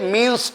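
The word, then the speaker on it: mesne: দুই 12 তে আছে মিনস প্রফিট মিসনে মিস নি প্রফিট কিন্তু উচ্চারণ হবে মিন্স বানানো হবে মিস নি এম ই এস এন E miss নি মিস নি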